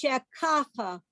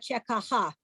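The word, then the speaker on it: שככה: Hebrew, by default, accents the last syllable. But when the word needs to be accented on other than the last syllable, that little straight line appears to let you know that. Okay? So it's shekacha lo, not shekaha. That's the difference.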